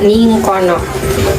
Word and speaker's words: ningkana: Misalnya kata ningkana, artinya di sana, dibaca ningkono.